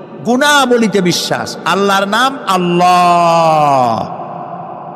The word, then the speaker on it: আল্লাহ: আল্লাহর নাম আল্লাহ। বলেন তো, আল্লাহ নয়, কিন্তু আল্লাহ হচ্ছে অশুদ্ধ, শুদ্ধ হচ্ছে আল্লাহ। বলার সময় মুখটা গোল হয়ে যাবে।